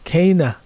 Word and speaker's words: Kena: Oh, this game is pronounced as Kana. So I've pronounced this wrongly in the first two episodes.